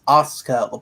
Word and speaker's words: Asuka: I realize that, like, I know that's not how you pronounce it, like, phonetically in Japanese. I realize it's Asuka, but I'm not gonna care to That's fucking...